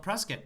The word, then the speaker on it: Prescott: arizona thousands of times never heard of press kit arizona but apparently the locals call it prescott so i stand corrected